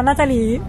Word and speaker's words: Nathalie: Allora, Natalie, devo dire come si scrive perché è N-A-T-H-A-L-I-E. Ma si pronuncia Natalie, no? Natalie. No, senso. Non all'inglese TH.